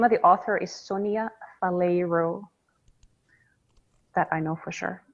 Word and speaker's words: Faleiro: The name of the author is Sonia Faleiro, that I know for sure. Sounds Brazilian, but she's in fact Indian. Bolero. Faleiro. Oh, spell it.